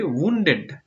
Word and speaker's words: wounded: ওকে, উন্ডেড। Wounded মানে জানি। WOUNDED, উন্ডেড, এটার উচ্চারণটা একটু ভিন্ন, আমি বলেছিলাম।